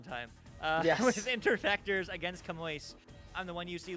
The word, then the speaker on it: Camões: You're gonna have to tell me how to pronounce that. Camões.